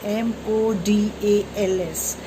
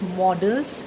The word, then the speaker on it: modals: M-O-D-A-L-S. Children, it is not pronounced as models. Instead, it is pronounced as modals.